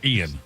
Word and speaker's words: Ian: No, Ian. That's the reason why. Okay. Just You're Ian.